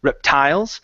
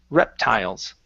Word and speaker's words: reptiles: pronunciation of reptiles so our stress is at the very beginning instead of reptiles it's reptiles okay reptile okay very good